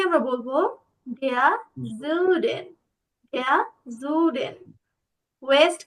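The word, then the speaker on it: Süden: এরপর আমরা সাউথকে বা দক্ষিণকে বলবো দেয়া জুডেন, দেয়া জুডেন। যেহেতু umlaut আছে সেহেতু একটু উটা বলার সময় ইউ এরকম করে উচ্চারণটা করবো। ওকে, দেয়া জুডেন।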